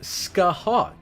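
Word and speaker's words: Scáthach: Scotty uses Scathok's body to be summoned. Okay, that makes sense. Scotty uses Scathok's body to be summoned. Okay. Pronounced Skyhawk.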